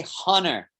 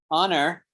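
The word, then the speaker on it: honour: so we don't say hunner the h is silent english h is mostly pronounced but there are exceptions and this is one of the exceptions so this word here honor you just pronounce it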